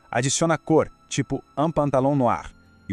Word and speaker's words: noire: muda, vira une robe noire. A gente adiciona um E no final e a pronúncia também muda um pouquinho, fica mais aberta. Noir.